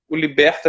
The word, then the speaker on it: Libertae: homônimo granoski conca liberta liberta tem um s no final mas não é para se pronunciar é já estamos aqui